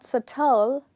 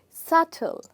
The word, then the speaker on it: subtle: two parts and here the first part is stressed so the word is not satell the word is subtle and the word is also not subtle which a lot of english speakers tend to pronounce learners actually who are learning the language so you would say subtle okay all right now